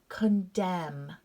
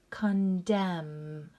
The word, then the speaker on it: condemn: salum here we go condemn silent n condemn let's fill in this